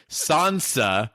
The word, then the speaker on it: Sansa: Sansa, without the Midwest A.